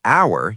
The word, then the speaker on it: hour: But we actually say an hour because when you say hour, you don't say the h sound. You say hour. It starts with a vowel sound, so an hour.